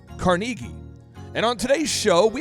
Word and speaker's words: Carnegie: The guy who wrote the book is often called Dale Carnegie, but really his name is pronounced Dale Carnegie.